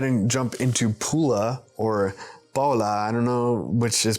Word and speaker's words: Pula: Next, we're going to go ahead and jump into Pula or Paola. I don't know which is preferred in Croatian, but in English it's pronounced Pula.